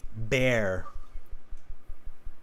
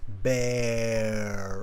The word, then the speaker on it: bear: this time just repeat the word after me bear bear bear bear okay any time you have